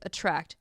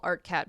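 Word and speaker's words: Attrakt: an injunction to suspend their exclusive contracts with attract which I always want to call artat because it's spelled stupid it's spelled a r a KT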